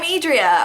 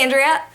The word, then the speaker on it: Adria: Hi, I'm Adria. Oh, nice to meet you, Andrea.